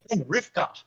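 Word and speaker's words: רבקה: But this is, again, just an eye opener that Rebecca is actually Rivka.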